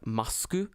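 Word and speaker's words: マスク: In Japanese, it's pronounced masku.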